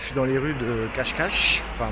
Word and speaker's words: Cascais: dans les rues de cache cache enfin moi je le prononce ce cascais mais motivé je crois que c'est cache cache cache cache et voilà